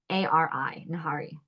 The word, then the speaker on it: nihari: And that is it's spelled like Nihari, nahari.